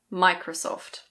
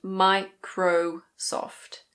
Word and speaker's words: Microsoft: Next we have Microsoft. In British English: Microsoft. Microsoft. It's not "micrO-soft". It's Microsoft. In American English the last O is a little bit different. It's Microsoft.